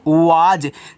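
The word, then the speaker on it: was: डब्लू ए एस इसको पढ़ते हैं वाज देखो इंग्लिश में इस यस को क्या पढ़ोगे आप बच्चों यहां पे इसको आप ज पढ़ोगे कहीं-कहीं सा भी पढ़ा जाता है लेकिन ज्यादा करके हम ज पढ़ते हैं देखो डब्लू से व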